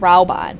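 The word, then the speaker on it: Raubahn: we must save rauban see i was pronouncing it right so that now they're pronouncing it rauban okay that's how i was always pronouncing it just saying okay all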